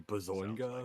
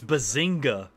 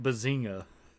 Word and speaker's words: Bazinga: How is that supposed to be bazoa? It's bazinga. But you didn't know. You didn't pronounce the g. You pronounced it so softly. It's like bazinga.